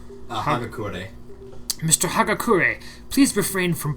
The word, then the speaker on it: Hagakure: Hagakure.